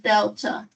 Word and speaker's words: delta: spell that triangle is a capital letter in the Greek alphabet pronounced Delta that's why I keep